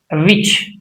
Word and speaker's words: witch: T is not pronounced before CH.